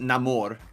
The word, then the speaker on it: Namor: it's pronounced there well in the movie they pronounce it Namor so it's like like